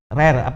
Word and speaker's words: RARE: Kemudian juga dengan NGO lain ya, dengan RARE ya, RARE bacanya begitu.